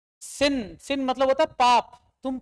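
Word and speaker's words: sin: जरा इसकी स्पेलिंग पढ़ो ढंग से क्या है सिन सिन मतलब होता पाप तुम पापी हो लेकिन फिर भी तुम इसको क्या पढ़ते हो क्यों पढ़ते हो साइन कभी पूछा है सिन को सिन को साइन कैसे बोल सकते हैं तुम इंग्लिश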